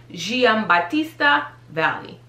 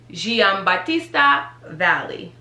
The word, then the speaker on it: Giambattista Valli: But how do you properly pronounce this is Giambattista Valli. Giambattista Valli.